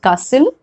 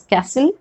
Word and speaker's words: castle: Also, in case of, I said castle, that is British English pronunciation. You can say it as castle in American English.